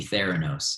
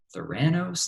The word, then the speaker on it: Theranos: that into even current it has to be ther anos and that is how you pronounce it by the way I for a long time I was like Serrano's like I had no idea how to pronounce